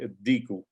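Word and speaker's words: الديك: This the dal is a sun letter, so we say ad-diku.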